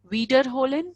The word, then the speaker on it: wiederholen: something, you can say wiederholen Sie. Like, can you repeat? Not can you repeat it, but yeah, repeat. Please repeat. Wiederholen Sie. Wieder, because we have the sound of IE is E.